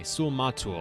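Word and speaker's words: Sul-Matuul: rule is our chief is it mahru or mathul hold on no cause gotta yeah okay sule matul i've been getting the name wrong this whole time maybe that's why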